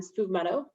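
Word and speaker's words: sfumato: the amaro montenegro you could also use um spoof motto so s-f-u-m-a-t-o is how you spell it it's a rhubarb amaro and it's delicious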